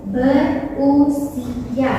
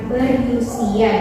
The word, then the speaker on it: berusia: Namun, Anda perlu lagi ee perhatikan imbuhan bagian berusia itu berusia bukan berusia. Jadi menggunakan huruf U bukan huruf Y.